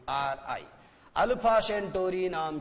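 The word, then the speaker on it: Alpha Centauri: सी ई एन टी ए यू आर आई, अल्फा सेंटोरी नाम की जगह पर डरकर भाग जाता है और पृथ्वी के ऊपर हमला करने का अपना विचार त्याग देता है।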